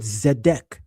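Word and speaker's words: צדק: When the letter Zadeh is at the beginning of the word, the sound is a Z, as in the word Zedek, the Hebrew word for righteousness. It's a Z, as in the word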